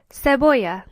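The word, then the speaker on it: cebolla: Onion is seoya. Notice that in this word there are two L's. If you remember back to our alphabet lesson, this is pronounced aay. So the word is pronounced seoa.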